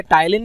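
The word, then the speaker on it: ptyalin: के अमाइलेज की, जिसे टाइलिन भी कहा जाता है। एक और वर्ड इसके लिए यूज़ किया जाता है टाइलिन, पी जो है वो साइलेंट है।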